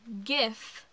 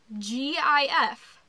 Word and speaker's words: GIF: It is GIF, G-I-F, not GIF. If it was GIF, it would be spelled with a J.